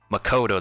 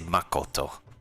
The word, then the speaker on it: Makoto: pronunciations in, because like instead of saying like Makoto, they say Makoto, as in like they stress upon like the different kanji in specific words, which is pretty nice.